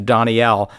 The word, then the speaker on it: Daniel: announcers kept referring to donnielle and there was no one with that name on the card then I finally realized it's spelled the same as Daniel just pronounced differently I love learning that